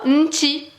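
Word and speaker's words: نتي: Nti. Au lieu anti, ils disent nti pour parler plus rapidement.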